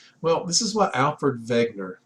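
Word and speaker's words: Wegener: this is what Alfred Vagner the W is pronounced with a v in 1912 proposed he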